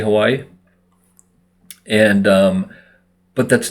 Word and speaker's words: Hawaii: on the language but the W is pronounced like a v um and there's what